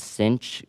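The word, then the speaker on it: sinh: However the pronunciations are a little different and instead of the trig function s cosine and tangent um the hyperbolic functions are pronounced as cinch kosh and tanch.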